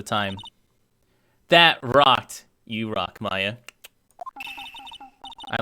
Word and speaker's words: Maya: You pronounce her Maya? Definitely Maya.